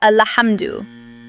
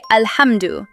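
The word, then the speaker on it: الحمد: Some people replace the sukoon on lam with a fatha and pronounce it as alhamdu. So make sure you say alhamdu, not alhamdu.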